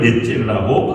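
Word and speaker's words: נצר: 그 구루터기라고 얘기하는데 그걸 넷제르라고 발음하고 있습니다.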